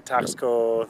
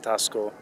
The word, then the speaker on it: Taxco: I really like Taxco, or Taxco, I guess. We would say Taxco. Mexicans pronounce it Taxco.